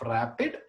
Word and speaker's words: RAPD: when you speak of Rapide Rapide Rapide is pronounce it as a rapid or DNA fragments amplified